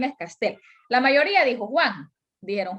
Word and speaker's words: Castel: entonces en este caso no está tildada porque termina en l no es ni n ni ese ni vocal pero es aguda entonces el hecho de decir pronunciar castle es un error porque